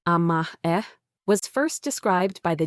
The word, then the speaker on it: amae: Amae, pronounced "ah-mah-eh", was first described by the Japanese psychiatrist Takeo Doi.